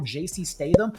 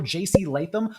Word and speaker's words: Latham: and drafting left tackle J.C. Statham, number 7 overall. I mispronounced Latham's name. Let me do that one more time. And drafting left tackle J.C. Latham, number 7 overall.